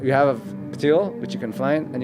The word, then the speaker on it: PTYL: So if they look up patil and can you spell that one more time for us?